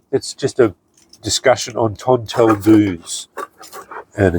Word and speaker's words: tonteldoos: And as far as I know, cuz I looked it up cuz I could could never pronounce it. That's apparently how they um pronounce the South African tinder box.